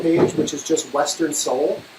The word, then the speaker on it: Sol: So if you go to our Facebook page, which is just Western Soul, it's spelled S-O-L.